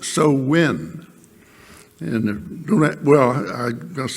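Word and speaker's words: Samhain: h a i n and that looks like Sam Hayne but it's pronounced so win and don't well I must say don't ask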